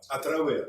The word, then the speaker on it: travers: Ma propre vie féminine, à travers les histoires, si je ne me trompe pas, à travers, S, on ne prononce pas.